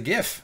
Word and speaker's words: GIF: invented the gift says it's pronounced jiff like the peanut butter so yeah so I